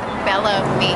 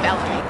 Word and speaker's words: Bellamy: Alright, Cartiators, we are at Dove Cameron's event with Bella Mee here. Remember how I called it Bellamy here? Like salami, but not salami. It's Bellamy.